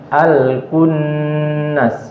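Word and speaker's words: الكنس: Nunnya di gunahnya lebih dilamakan. Al-kunnas.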